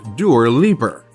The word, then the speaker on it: Dua Lipa: Dua Lipa, pronounced Dur Liper.